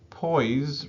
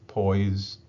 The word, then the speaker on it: poise: Okay, so the last question for these uh basics and fundamentals um is this poise, right? Pronounced with like a Z, P O I S E, but it's pronounced like a Z.